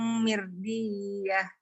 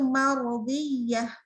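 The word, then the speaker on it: مرضية: Ya, irji'i Ila rabbiki radiyatan mirdiyah. Ya, nah. Betul sih rodiyatan, cuman tadi Umu bacanya mirdiyah, harusnya mar. Itu marodiyah.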